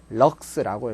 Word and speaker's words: lx: LX라고 적고 읽기는 뭐라고 읽는다? 럭스라고 읽습니다. 럭스.